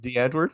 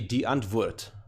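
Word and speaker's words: Die Antwoord: what the Edward yeah it's not pronounced like that but it's fine wait how is it pronounced it's actually an Afrikaans word so it's actually D and wood so it's more you must try and said with a German ah with an accent yeah now an American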